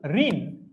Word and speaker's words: ঋণ: ঋণ এর উচ্চারণ কি? ঋণ, ঋণ এর উচ্চারণ কি? ঋণ উচ্চারণ কি? প্রশ্ন নম্বর 9, ঋণ ঋণ ঋণ ঋণ ঋণ, এটার উচ্চারণ হচ্ছে এইটা, র রস্বইকার দন্তন্য হসন্ত।